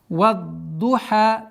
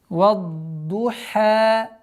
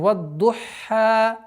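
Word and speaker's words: وَالضُّحَى: Вад-духа. Здесь одна из самых распространенных ошибок, это когда звук ха произносится удвоением. Вад-духа, что является грубой ошибкой, потому что добавление звука называется. Это ошибка, и поэтому вад-духа, вад-духа.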